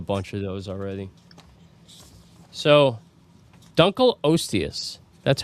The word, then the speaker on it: Dunkleosteus: So, Dunl Oius, that's how it's pronounced.